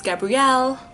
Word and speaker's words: Gabrielle: Right, the neighbor's name is Gabrielle. It's not Gabriel. They pronounce it Gabrielle in the show.